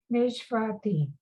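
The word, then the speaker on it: נשבעתי: okay, And then the ayin is silent. Bati. Bati, Nish bati. Nishvati, Right?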